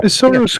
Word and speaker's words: Isilra: And that it happened on a faraway continent known as Isilra. I don't know how you pronounce it. That sounds right. Isilra's correct.